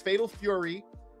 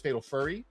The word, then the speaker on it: Fatal Fury: I We do have to like really really be careful with our pronunciation because I know in the past we were hanging with Ash in chat and she uh thought it was Fatal Furry and that became a big issue.